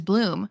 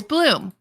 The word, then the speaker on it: Blum: It better be Bloomhouse if his last name is Bloom.